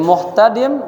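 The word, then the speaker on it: محتدم: Jadi muhtadim bidhammil mimi wa sukunil ha'i wa fathit ta'i wa kasrid dal, bacanya muhtadim.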